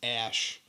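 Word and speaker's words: Æ: It's part of it is pronounced as Ash, and then there's numbers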